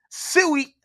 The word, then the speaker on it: SIU: phrase tread lightly brother what's the phonetic pronunciation of SIU suey you see Davis versus